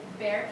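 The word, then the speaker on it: Bexar: know um okay I used to live in Bear County in Texas but there is spelled b e x a r because X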